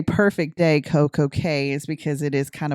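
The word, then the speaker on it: CocoCay: general it is still CoCo Key the actual pronunciation is like car key but it's c-a-y well there you go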